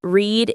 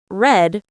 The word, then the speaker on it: read: It's read in the present and read, pronounced like read, in the past.